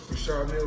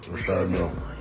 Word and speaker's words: Richard Mille: No, I like to call this, well, people pronounce them different ways. Richard Mille is what my jeweler told me, so. That's exactly how you say it, Richard Mille.